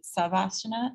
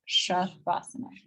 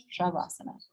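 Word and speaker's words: शवासन: The very last pose we do, you'll often see people say, hear them say savasana, savasana. That's incorrect. It's shavasana, shavasana, okay?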